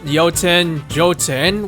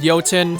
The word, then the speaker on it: Jotun: was publicly announced, but I pronounced Jotun when I first saw it. But as the years went on, I realized it was called Jotun, so I just adapted.